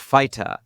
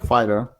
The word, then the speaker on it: Fyta: use and it's pronounced fighter right yeah sounds like fighter you know but it's